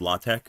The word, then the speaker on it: LaTeX: ever heard of uh latte? I think it's pronounced. It's spelled like latex, but it's pronounced latte.